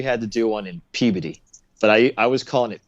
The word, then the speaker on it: Peabody: And they're like, dude, no one goes to Peabody. And I was like, how does it pronounced Peabody when it looks like the word Peabody? He's like, it's Boston, man. That's how we talk up here.